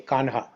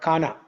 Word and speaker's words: Kanha: Hindi language Hindi Brij Bhasha Kanha k a n h a Kanha They don't pronounce it like Kanha, but Kana. They say Kana.